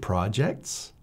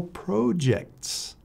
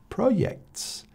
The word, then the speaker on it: projects: Is it projects or projects? Or how about some of our Latin American friends who say proyects? They have a hard time pronouncing the J sound.